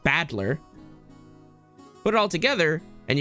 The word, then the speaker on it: Battler: Made up of the characters for fight and person, and it's pronounced Badler.